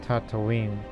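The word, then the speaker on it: Tataouine: the tunisian reconquest of tatooine that's how you pronounce that much like that planet in star wars but still tripoli we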